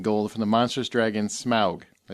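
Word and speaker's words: Smaug: vanquished Kingdom in gold from the Monstrous Dragon smug I say it right yes thank you every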